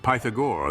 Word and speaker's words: Pythagore: of we need only consider the French pronunciation of his name pythagore that is pagor to